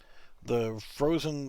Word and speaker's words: Phrozen: It's the Frozen Sonic Mini, and it's spelled Phrozen, not FR. It's PH for Frozen.